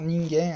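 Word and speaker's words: 人間: Là, par exemple, là, on a vu que normalement la lecture c'est kan, ken, mais là, quand c'est à côté du hito, ça se prononce gen, hein, ningen.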